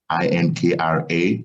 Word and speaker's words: 3Dinkra: and instead of having, and it's spelled Adinkra, but because we're using 3D printing and what we do, I decided to do it 3D. So and it's still pronounced Adinkra.